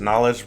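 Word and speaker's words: Knxwledge: just found this yesterday the artist's name is knowledge but it's spelled k-n-x-w-l-e-d-g-e and the song is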